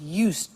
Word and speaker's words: used: listen to the pronunciation I said used with t sound used not used or used